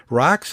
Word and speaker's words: Racz: So now we're joined by Thomas Racz. That's how he pronounces his last name for those who are interested.